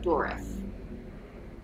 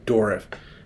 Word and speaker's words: Dourif: Dourif. Dourif. Fiona Dourif. Fiona Dourif. Yeah, well, Fiona Dourif. I like that. And thank you for coming on the show. I'm Patrick Bateman. And it's been Fiona Dourif.